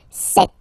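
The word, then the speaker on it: sept: Then here, remember, P is not pronounced. Okay, it doesn't exist. So you got this set sound.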